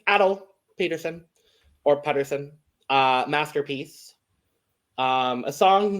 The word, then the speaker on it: Atle Pettersen: I learned how to pronounce it. It's Atle Pettersen or Pettersen.